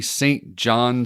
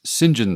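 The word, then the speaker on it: St John: on because the whole fact that it's actually St. John Smay, but it's pronounced Singen Smay, James Singen Smi, and he corrects people frequently over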